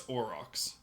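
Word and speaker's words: aurochs: Orcs. No, it's orox. There we go. Orox. Orox. It's a hard word cuz like au that makes me want to like use French pronunciation.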